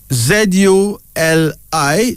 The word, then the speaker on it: Zuli: Z-U-L-I. Zuli. This is a Nigerian name, meaning brilliant, ahead. Zene, Z-E-N-E, pronounced Zene, Z-E-N-E, a Nigerian name meaning beautiful.